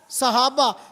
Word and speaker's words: صحابہ: صحابہ. صاد کے اوپر فتح ہے، صاد کے نیچے زیر ہے.